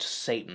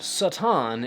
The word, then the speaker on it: Satan: title was not pronounced Satan the word originally had a short vowel sound seitan is an ancient Hebrew